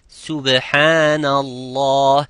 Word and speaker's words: subhanallah: Like some would say, I hear some of my students saying subhanallah, it's subhanallah. It is not sub, it's subhanallah.